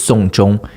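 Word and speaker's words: 送钟: watch is Song Zhong it it's pronounced exactly like uh seeing someone's death like someone died you take them to song like through the whole process of that that's why the words are they pronounce exactly the same that's why you can't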